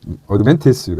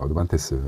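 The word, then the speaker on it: Advantest: 이제 어드밴티스가 아니라 어드반테스, 일본식으로 발음 아닙니까?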